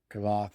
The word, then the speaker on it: Kvothe: I think that's how you pronounce his name. Kavoth. It's like a silent E.